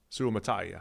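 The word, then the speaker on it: Suamataia: did not include Kingsley Su mataya I knew there an extra syllable than we had been using MAA yeah we lost it BYU still available Patrick Paul from Houston Rosen su mataya su mataya su mataya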